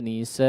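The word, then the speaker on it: نساءً: Rijalan katsiran wa nisaa, wa nisaa. Kalau kita jumpai hamzahnya di situ bertanda tanwin, ya, atau bertanda fathatain, ya, maka dipanjangkan sepanjang 2 harakat meskipun tidak ada alifnya.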